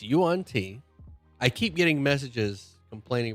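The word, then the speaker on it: yuan-ti: It's Yuan T.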